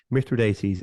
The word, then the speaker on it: Mithridates: The Romans were fond of fighting wars against Mithridates, and I checked the pronunciation, Mithridates of Pontus.